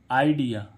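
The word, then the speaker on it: idea: एक और वर्ड है आईडिया आईडिया आई डी ई ए आईडिया आई डिया आईडिया शुरू में आई आने पर इसका उच्चारण आई होता कुछ वर्ड ऐसेन में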